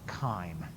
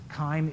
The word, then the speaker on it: chyme: change it's now called chyme it looks like it should be chime but it creates correct pronunciation is kind so chyme is swallowed food as